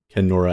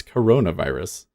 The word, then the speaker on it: coronavirus: Kenora, it's coronavirus.